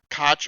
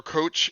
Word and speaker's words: Koch: i did hear that it seems like the americans pronounce it koch or coach and then when i tended to hear a european say it they mentioned something else now but help me